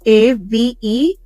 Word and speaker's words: Avelia: That's Avelia, spelled like Amelia, except there's an V instead of the M.